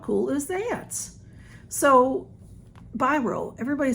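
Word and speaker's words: BYROE: So, Biro, everybody says, how do you say that? Blah, blah, blah. Because it's B-Y-R-O and then a backwards E.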